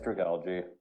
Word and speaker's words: Dragalge: Dragalge. Dragolgle. I Dragal. love Dragalge. I read it as Dragalge, but I don't know. Yeah, it's Dragalge.